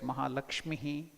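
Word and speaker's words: महालक्ष्मीः: But to make it easily heard, we will add a little Lakshmihi.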